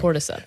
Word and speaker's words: Cordyceps: Cordyceps. Cordyceps. There it is. Yeah. I did not want to say quadriceps again. Cordyceps.